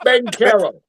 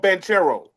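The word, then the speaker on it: Banchero: Pablo Bencaro. Bencaro or Benchero?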